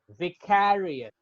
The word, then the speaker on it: vicarious: So the more emphasis needs to be given in care. Vicarious, vicarious, vicarious, vicarious. It's vicarious. So care में थोड़ा ज़्यादा emphasis होगा, primary pronunciation है ये.